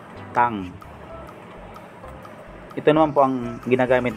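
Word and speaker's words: 땅: Ito naman po, itong parang letter C, ang ibig sabihin po niyan ay double consonant na T. Ito po yung A sa tabi. Yung ending consonant po naman, ito pong bilog, ibig sabihin po ending consonant, ang ibig sabihin ay NG. Kaya ang bigkas po nito ay Tang.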